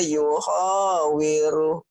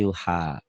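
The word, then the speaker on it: يحاور: Faqala li sahibihi wa huwa yuhawiru. Bukan yuho tapi yuha. Yuhawir. Yuhawiru. Ya.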